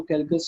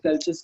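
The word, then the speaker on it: Calchas: आप इसको कैल्कस या कैल्चस के नाम से भी प्रोनाउंसिएट कर सकते हैं।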